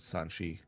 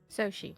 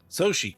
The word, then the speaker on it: Soshi: As Sanchi, what is it? How do you say it again? Soshi. Soshi. God, I keep that up. as so she sees you.